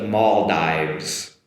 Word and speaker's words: Maldives: The Maldives Maldives or the Maldive islands which are very popular for tourists. The Maldives. Maldive islands or the Maldives that the “v” sound there as well and the Maldives.